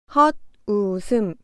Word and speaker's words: 헛웃음: 헛웃음. 헛웃음은 받침 시옷이 디귿으로 바뀌어 헛웃음으로 발음하면 됩니다.